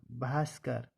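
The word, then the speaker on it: Bhaskar: बी एन ए भावना बी के बाद एच आए तो भा बनता है इसके यह उदाहरण है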